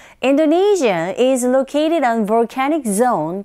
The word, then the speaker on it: Indonesia: Indonesia is located on volcanic zone, a volcanic zone called the Ring of Fire. 인도네시아보다는 인도네시아 이렇게 발음하셔야 되고요. 한 번 더. Indonesia is located on volcanic zone called the Ring of Fire.